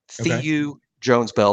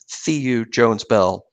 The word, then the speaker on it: Theu Jones-Bell: Theu Jones-Bell, and that is how you say it. Theu Jones-Bell.